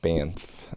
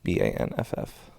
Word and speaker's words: Banff: It's an N, not an M. So Banff, Banff.